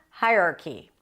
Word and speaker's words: hierarchy: For example, the company has a clear hierarchy. Hierarchy. And common mistakes could be hierarchy, and not hierarchy, or hierarchy. I heard that as well, hierarchy. The stress is always on the first syllable.